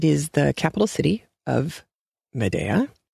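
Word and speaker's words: Médéa: horse so nice and the horse's name isn't Medea which is how it's pronounced in a couple of different audiobook versions but it is Medea and that is a location in Algeria which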